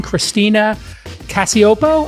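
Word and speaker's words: Christina Cacioppo: Hey, everybody, I thought I would bring Christina Casiopo. I pronounced it correct, I'm hoping, Christina?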